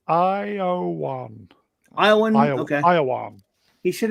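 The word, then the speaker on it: Ioan: Bedelia, pronounced Iowan.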